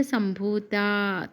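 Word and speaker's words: सम्भूता: इसमें आप वो महाप्राणक्षर को भी अच्छे से प्रोनाउंस करना पड़ेगा। देख लीजिए चिद अग्नि कुंड संभूता भूता संभूता यह महाप्राणक्षर है।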